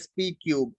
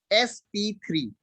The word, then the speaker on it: sp3: Never pronounce as sp क्यूब, इट is known as sp3।